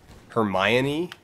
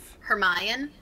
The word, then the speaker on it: Hermione: kinda not that far that's how they say it in the movie yeah that is right but in my head I was thinking it was her Mayan her my Annie it's Hermione's like no